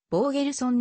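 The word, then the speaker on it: ボーゲルソン: されているまた実際の発音もボーゲルソンのが近いの mlb ドラフト 5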